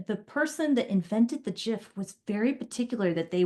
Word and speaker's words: GIF: G is for graphic.